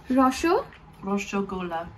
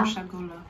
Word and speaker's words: রসগোল্লা: Roshogola. রসগোল্লা। Roshogola. In the la put la.